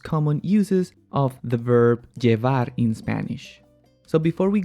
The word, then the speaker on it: llevar: is called ej okay most people would pronounce this verb with the sound of the y which is je var de var but you will hear